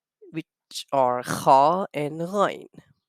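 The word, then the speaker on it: خ: So kha and ghain, the point of pronunciation, the sound of kha and ghain comes out from the top of our throat.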